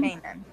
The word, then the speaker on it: maintenance: No, I think it's the E, the last E, the one that doesn't sound. But the T does, that sound.